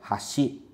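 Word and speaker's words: 橋: E a pronúncia da palavra é hashi, hashi, significa ponte.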